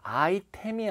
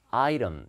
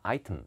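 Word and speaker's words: item: 해 두시고요 그 다음에요 발음이 아이템이 아니라 아이름 이렇게 읽어요 t사운드는 약간 이렇게 부드럽게 아 이런 이렇게 자연스럽습니다 물론 영국 사람들은 아이템 이렇게 읽기도 합니다 아 이런 소리 다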